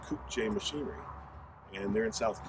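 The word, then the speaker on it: Kukje: the parent company that manufactures this tractor is pronounced koop j machinery and they're in south korea that is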